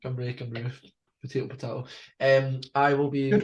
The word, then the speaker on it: Cymru: Is that how you pronounce it? Cymru. Cymru.